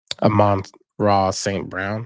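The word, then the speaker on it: Amon-Ra St. Brown: Amon Ross St. Brown.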